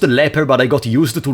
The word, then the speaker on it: Leaper: Leaper, which is pronounced leper, but I got used